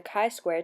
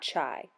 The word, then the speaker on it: chi-square: will be exploring the kai Square test for Independence let's clear something up from the get-go it is pronounced Kai Square not chai this isn't a latte from Starbucks it is a mathematical